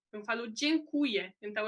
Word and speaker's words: dziękuję: Só que, por exemplo, quando a gente fala dziękuję ou dziękujemy, já não dá para ouvir esse E, é mais E, né?